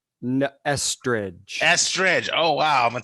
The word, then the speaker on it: Estridge: Etheridge. It's just like pronounced just like Melissa Etheridge, right? No, Estridge.